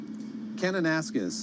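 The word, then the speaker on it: Kananaskis: David, what's a proper pronunciation there? Kenanasquez.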